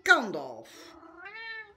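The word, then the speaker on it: Gandalf: aan, maar die heet Kandolf. Ja, met een G. Hè? Ja, G-A-N-D-A-L-F. Ja, Kandolf. En dat spreek je gewoon uit als een harde K. Maar het is een G waar je het mee schrijft.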